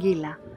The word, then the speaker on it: Qilaqila: Yes We leave Daliconi village and sail to awesome Qilaqila (pronounced Ngilangila) a gem of Fiji and one of the most beautiful and safe anchorages we have ever been Fantastic!